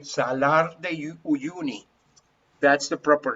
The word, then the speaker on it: Salar de Uyuni: Well, if you translate it into Spanish, because you can say Salar de Uyuni, that's the proper name, okay?